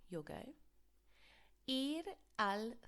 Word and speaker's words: ir: Think about it being pronounced like your ear on your head, i.e. what you listen with. It's exactly the same pronunciation as the English ear.